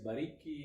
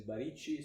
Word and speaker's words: Baricchi: In Italy it's Baricchi, in English or American version is Baricchi, so Okay.